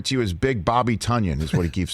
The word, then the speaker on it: Tonyan: tonya right yes sir rhymes with funyun is that how basically